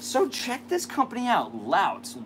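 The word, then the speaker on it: Laut: Lout. It's not Loot. That would be a horrible name for a company. But L-A-U-T.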